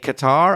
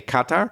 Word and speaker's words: Qatar: I've heard both. I've heard people say Qatar and I've heard people say Qatar. Yeah, we can't decide in English sometimes where to put the stress on a word.